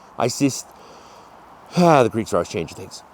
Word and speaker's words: Isis: Uh same thing the goddess Isis. It was like east and they added the cis on the end. Isis the Greeks always change things.